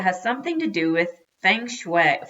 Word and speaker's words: feng shui: something to do with feng shui Fung Shui which is the Chinese way of saying some places are more